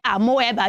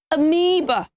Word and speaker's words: amoeba: shipless like I'm whoever don't say I'm whoever you should say amoeba amoeba not amoeba so children said with